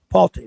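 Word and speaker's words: Pulte: Palti, that's how you say it, Palti.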